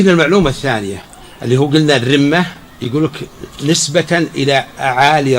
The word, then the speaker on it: الرمة: استشهد بيت، طبعا ذكر انه شعر ومو بشعر، رجز، وقال انه هذا الرمه بالتخفيف وما يحق لنا نقول بالتشديد الرمه. فهذا مو بصحيح.